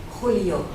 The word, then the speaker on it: Julio: easy, but it is in fact the one for the Scots. It's the h, and for the Germans. Any Germans here? Yes, good, right. Then they don't have a problem. They can actually just pronounce it for all of it because it's in the throat.